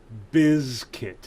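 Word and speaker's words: Limp Bizkit: get the pronunciation right biz kit oh limp is kit yes yeah biscuit it would be b-i-z-k-i-t which would be biscuit not biscuit no no no because that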